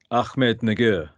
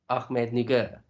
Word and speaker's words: Ahmednagar: How are you pronouncing that? I think it's Ahmednagar. Ahmednagar.